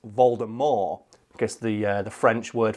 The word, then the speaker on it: Voldemort: all people don't know Voldemort is actually supposed to be pronounced Valda more guess the the French